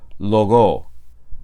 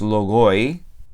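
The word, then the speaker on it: λόγῳ: Entonces, esta palabra se pronuncia to logo. No es logoi, ¿vale? Es logo.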